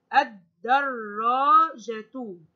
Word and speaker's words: الدراجة: لاحظوا معي نطق هذه الكلمة ألف، نطقت الألف ونطقت اللام على طول بعدها ولم أنطق اللام. أي ألف والدال، وبعدين نطقت الدال كمان مرتين اثنان. الدراجة.